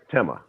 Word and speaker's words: Tema: And I want to make sure I don't mispronounce it, but the city was Tema? Yes. Tema.